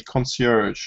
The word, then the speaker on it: concierge: Concierge. Yeah, it's a French word.